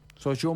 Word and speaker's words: Sochaux: De hecho, Soyo dice que se pronuncia. Soy yo. Sochaux Montbéliard.